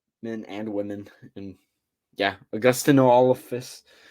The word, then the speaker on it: Augustynolophus: And yeah, augustynolophus. I looked up the pronunciation. It's saying AW-GUS-TIN-O-LO-FUS. So, augustynolophus for anybody who's trying to pronounce it with me.